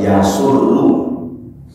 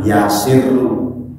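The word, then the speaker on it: يَسُرُّ: itu yasuruhu bisa menggembirakannya beliau bacanya harus yasurru jangan yasirru sebab kalau yasuru nanti jatuhnya adalah masrurun senang bahagia tapi kalau yasiru jatuhnya nanti malah sirrun enggak Kalau sirun malah rahasia maka bacaan salat ada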